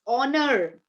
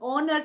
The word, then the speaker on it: honor: interest okay it's honest it's honor I'm honored to meet you it's an honor to introduce you so it's honor not honor and uh our I'm busy by the hour not how Okay H goes silent when it is followed